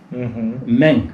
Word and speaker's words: Мэнь: Вот, скажем, я уже сказал, клан Мэнь. Мэнь, точное произношение.